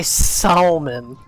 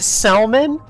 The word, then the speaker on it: salmon: not mid you're mid you say Salon yeah cuz it's spelled salmon you couldn't even spell it right before well now I can using this knowledge you were pronouncing it Salman and you didn't even think it had an L in I forgot it